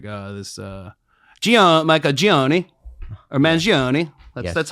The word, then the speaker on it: Mangione: Well, apparently, did you read about like how the shooter, like this Michael Gioni or Mangione?